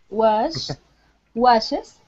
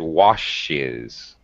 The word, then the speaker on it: watches: Every time you say watches, Ludi, I think you said washes. Okay, what's the difference? Ch and sh. First of all, when we pronounce the SH sound, like ship and sheep, we tend to sh. We tend to drag it out a little more so that the listener can hear it.